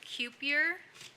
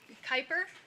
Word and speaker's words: Kyper: Eric Freeman, Tyler Bush, Alexander Strickland from welding, Tyler Bush from culinary, Cupier, sorry if I butchered your name, Kyper, that's what I said, right?